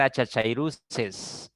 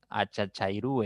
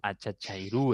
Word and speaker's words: achachairú: terminen u con tilde no va a ser achachairu no achachairú es Okay Cuidado con estas trampas este yo sé que estamos acostumbrados a pronunciar de esta manera no achachairu he escuchado muchísimo pero no es achachairu sino achachairú es porque termina en uc con tilde lo mismo pasa con